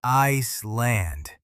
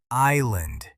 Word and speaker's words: island: Then very politely said, "It is island. The S is silent."